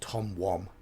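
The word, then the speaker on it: Tom Wham: been also been told that his name is pronounced Tom wam not in England it wouldn't be whn is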